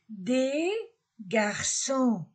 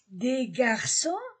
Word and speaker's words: des garçons: ne se prononce pas on ne prononce pas le S des garçons des garçons des fille on ne